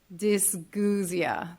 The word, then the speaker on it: dysgeusia: some of the examples so altered tastes or dysgeusia that's how you say it that word I